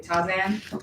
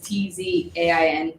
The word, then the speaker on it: Tzain: Like the brother's name is like I say Tazan, but it's Tzain, and I've never seen something spelled like that before.